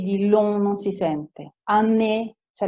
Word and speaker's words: année: France ha la E muta, O-U si legge U, A-U si legge O, la G di long non si sente, année c'è l'accento, quindi la E in questo caso si sente.